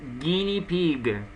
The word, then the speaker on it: guinea pig: Alright, so the pronunciation is guinea pig.